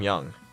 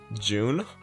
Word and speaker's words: Jung: said it but but I'm young nice to meet you June what the heck you have to pronounce names consistently if I said hi my name is young and then the other